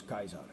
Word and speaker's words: Caesar: have called him Julius Kaiser yes the C is pronounced as a k and so we get